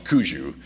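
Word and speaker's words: Quzhou: I think it used to be called Chuqiao, but it's Kuzhou is how it's pronounced today.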